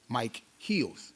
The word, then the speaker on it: Micheals: If you look at the spelling, it's actually Rip Mike Heels. It's m i c h e a ls. But people always pronounce it wrong.